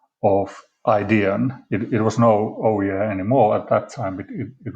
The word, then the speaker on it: Oujee: of northern america and the way how they pronounced oh yeah was very close to ouija you know the spirit